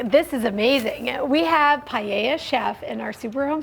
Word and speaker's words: paella: and you are pronouncing it correctly that is pronounced paia and it is the most popular dish of